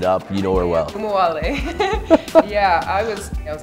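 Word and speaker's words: Ogunbowale: You pronounce her last name. I don't want to mess it up. You know her well. Kumuwale.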